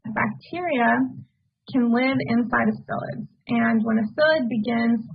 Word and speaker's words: psyllid: is a picture of a psyllid phyllis at the silent p are very tiny insects